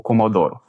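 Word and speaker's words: commodore: Aqui o o tenente, né, fala para o comodoro. Comodor. Comodor, que quer dizer comodoro. Então observa aqui a pronúncia dessa palavra, ele não fala o último R ali.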